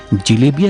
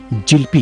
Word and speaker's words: जलेबी: Iran में इसे जिलेबिया के नाम से जाना जाता था। महाराष्ट्र में इसे जिलबी तो बंगाल में इसका उच्चारण जिलपी करते हैं।